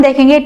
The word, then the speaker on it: the: THE को, द को कब हमने द प्रोनाउंस करना है और कब हमने उसको दी प्रोनाउंस करना है। तो चलिए देखते हैं। तो बहुत ही इजी है फ्रेंड्स। अगर THE के बाद अगर कोई कॉन्सोनेंट साउंड आ रहा है, कोई भी कॉन्सोनेंट